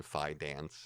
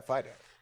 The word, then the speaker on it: Fidance: But Ian Fidance, did I pronounce that properly? Yeah, Fidance.